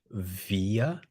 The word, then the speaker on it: wir: Wir haben. Wir haben. Então, em alemão, o W ele tem som de V. Sempre que vocês verem a letra W em alemão, a pronúncia é V.